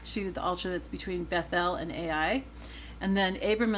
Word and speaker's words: Bethel: his second altar between Bethel Bethel Bethel is how most people pronounce it I try to say beth-el because that reminds us that it's house of God whenever you see Beth